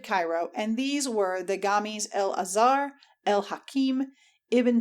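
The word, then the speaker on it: جامع: Hitherto the mosques had been of one form only, that of the Gami, commonly pronounced Gama, and meaning a place of assembly, or congregational mosque, where alone the Friday prayers, Guma, and sermon take place.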